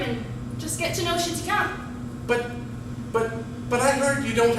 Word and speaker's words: Chéticamp: And how do you pronounce it? You say Oh, Chéticamp.